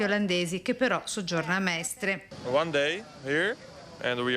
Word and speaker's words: Mestre: coppia di fidanzati olandesi che però soggiorna a Mestre. One day here and we are staying in Mestre. If I pronounce it good.